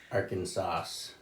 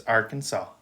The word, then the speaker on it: Arkansas: What if you say like Arkansas? Yeah, it's wrong. It's Arkansas.